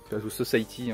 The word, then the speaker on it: Society: Ensuite pareil un film de Brian Yuzna, donc le mec qui a fait The Society, The Society, hein, c'est comme ça qu'on prononce.